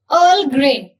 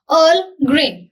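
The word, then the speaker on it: Earl Grey: English breakfast English breakfast अर् ग्रेन इसको आप पूरा अर्ल नहीं बोलोगे आप सीधे अर् ग्रेन अर् ग्रेन fruit T fruit T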